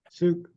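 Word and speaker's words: Suk: Sook. Will you spell that, please?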